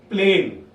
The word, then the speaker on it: plane: you look at it it is plan the moment you put an e at the end the a tells its name loud plane now when there was